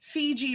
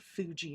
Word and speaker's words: Fiji: I'm just like, uh, Fiji mermaid. Fiji mermaid. Not Fuji mermaid. Why did I say Fuji? Maybe because I was thinking of Maybe I was thinking Fuji apples.